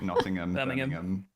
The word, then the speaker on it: Nottingham: It's anywhere with hamm as well as just notam. So like Nottingham. Yeah. Roarddom. Yeah. Sorry. H isn't a letter here.